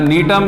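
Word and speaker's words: Gnetum: And next is Neetum. G is silent.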